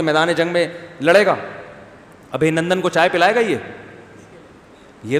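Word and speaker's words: ابھینندن: کسی نے بتایا ابھی نندن ہے, ابھی نندن نہیں ہے, صحیح تلفظ کیا ہے بھائی, ابھی نندن, تو وہ اتار لے گا اس کو.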